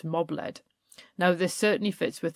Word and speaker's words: Mab-led: by a will-o'-the-wisp, and John Brand even makes a point that it's actually pronounced mob-led.